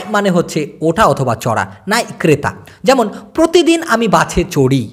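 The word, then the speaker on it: naik: চড়াকে বলা হয় নাই যদিও উচ্চারণটা হওয়া উচিত এন এ আই কে নাইক নাইক কিন্তু ক টাকে ওরা ছোট উক্ষ ভাবে উচ্চারণ করে বিধায় এই নাই মনে হয় নাই লা ওঠো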